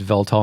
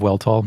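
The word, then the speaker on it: Weltall: and Unger's episodes before we said velt all instead of well Tall so Vlog one day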